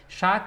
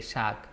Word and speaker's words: শাক: Shak is the common name of all the leafy vegetables like palong shak, lau shak, then comes lal shak, pat shak.